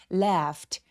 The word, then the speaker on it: laughed: laughed 할 때는 여기 이 AU 스펠링을 발음을 꼭 확인해 주시는 게 필요한데요. 발음 기호를 꼭 알아두세요. laughed. 여기서 에 소리는 굉장히 길어서 apple 할 때의 에 소리입니다. left, 요 GH는 F로 발음되고요.